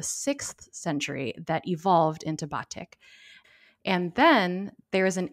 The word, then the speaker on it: batik: you might be wondering why nicole and i are pronouncing it as batik instead of batik or batik the latter is just another instance of a foreign word being westernized or anglicized kind of like nicole